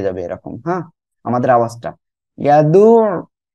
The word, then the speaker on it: يدعو: ইয়াদু, গলাটা চেপে উচ্চারণ করতে হবে।